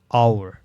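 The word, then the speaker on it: hour: আওয়ার, এখানে আর মতো উচ্চারণ হয়েছে।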